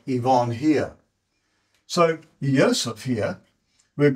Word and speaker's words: Yvonne: So Yvonne sounds like it starts with an E, and it doesn't.